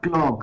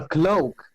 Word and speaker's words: cloak: No, not clock. The ones that goes over your shoulders. You know, like Red Riding Hood. I'm a cloak.